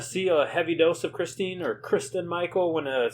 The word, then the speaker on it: Christine: Kristen Michael. Christine is how it's spelled, so that's how I'm going to say it.